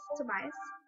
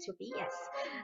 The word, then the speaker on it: Tobias: Tobias to be us Tobias huh I don't know I don't know that English pronunciation of that name the Danish perfect pronunciation is to be yes um all right Tobias